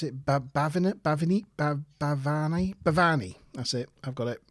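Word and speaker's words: Bhavani: Anyway, she arrives in 10 forward and is introduced firstly to, how do you pronounce it? Bavani.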